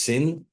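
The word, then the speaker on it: שׂ: one side it's it's the pronun is sin like an S otherwise it's the other side it's it's sh Shin meaning a woman who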